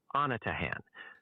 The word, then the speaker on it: Anatahan: It's pronounced Agraan and Anatahan.